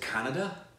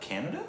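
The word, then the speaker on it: Kannada: Is it Canada? And is that how you pronounce that? Canada?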